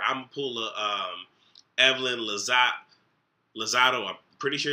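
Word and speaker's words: Lozada: paula um evelyn lazar lozado i'm pretty sure it's lozado i'm pretty sure it's not lazada so zado if i said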